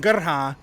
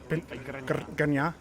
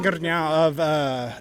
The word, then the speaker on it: Grnja: You got to roll the R. Grnja? Okay. Alan Grnja of Distant.